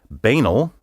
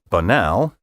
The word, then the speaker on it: banal: down to is that there are three acceptable pronunciations for this word banal banal and banal as the american heritage dictionary puts it speakers can perhaps take comfort in knowing that any one of these pronunciations will have the support of a substantial minority and that none of them is incorrect on the other hand